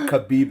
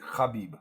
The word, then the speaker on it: Khabib: I think no, it's not Khabib though. We say it's like Khabib. The KH is like they're like a French R, Yeah.